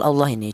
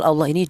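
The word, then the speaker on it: الله: huruf yang berharakat dhammah, maka cara bacanya lafal Allah ini dibaca tafkhim atau dibaca tebal ya, ini Allahi seperti itu. Jangan dibaca tarkik Allahi, jangan.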